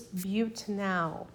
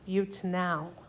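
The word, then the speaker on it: butanal: would be butanol so I over pronounce the a so that we know what we're talking about buttin now and that's just four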